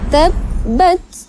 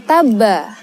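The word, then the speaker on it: تَبَّتْ: Ba yang bertasydid ini harus ditekan dulu ya dalam membacanya menjadi tab ba tab bat tab bat, bukan taba, bukan taba ya, tapi ditekan dulu.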